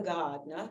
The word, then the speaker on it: Gardner: um there was no she did not pronounce the r in Gardner it was always you ask her her name it was Ava Gardner lots of people like